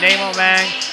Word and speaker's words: Nyein: and i felt terrible so it's nemo for the folks watching at home and certainly not spelled like namo and this guy